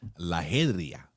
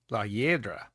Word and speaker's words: La Hiedra: La Hydra. You know what that is? Nope. Try it again. La Hydra? La Hydra. Mm-mm. Yeah, La Hydra. Mm-mm. How do you say it? La Hiedra. La Hiedra.